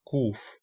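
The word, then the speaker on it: קוף: Por ejemplo, la kof fue cambiada a kuf.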